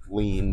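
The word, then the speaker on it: lien: l i en but it's pronounced lean just like you lean on a desk or you lean on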